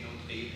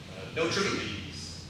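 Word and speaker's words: Notrebe: built and inhabited by, I'm going to say no thief, and you say it's but how do the locals say it? No tribute. No tribute?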